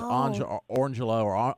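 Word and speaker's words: Orangejello: heard that before yeah it's orangelo or Angelo but it's spelled orange Jello and then Lelo like lime Jello lime Jello yeah thank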